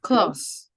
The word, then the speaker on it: clause: The first clause. The first clause is sounds like close of the door, but close. They can be homophones.